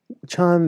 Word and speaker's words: Chan: a chan buddhist classic chan is the chinese pronunciation a sudden awakening which the japanese pronounce zen so i'm a zen